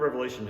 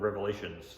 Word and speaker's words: Revelation: uh The Book of Revelation has been often misunderstood even its name is usually mispronounced I hear people say the Book of Revelations like I don't know